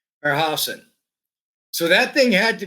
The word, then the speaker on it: Herrhausen: I should pronounce his name correctly. Herrhausen.